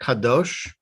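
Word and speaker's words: קדוש: Yes, that was Kadosh. perfect. Kadosh.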